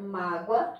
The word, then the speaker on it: mágoa: Mágoa é com O, tábua é com U, mas a pronúncia do O e do U são iguais, ou seja, o O aqui tem o som de U.